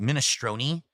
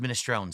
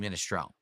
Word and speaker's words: minestrone: No, it's actually minestrone, but a lot of people have started pronouncing it minestrone. That's not correct. It's actually pronounced minestrone soup.